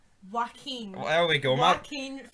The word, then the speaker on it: Joaquin: Yell Queen. Joaquin. Well, there we go. Joaquin Phoenix. My pronunciation's pish, but we have Roberto De Niro in this.